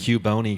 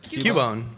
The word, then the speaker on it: Cubone: Cubone guy. How do you pronounce it? Cubone.